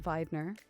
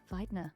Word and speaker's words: Wiedner: To be honest, the correct pronunciation is Wiedner. Wiedner. Because vi German, yeah?